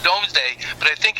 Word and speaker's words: Domesday: production yes and it's pronounced I mean it's pronounced domesday but I think it's written doomsday yes right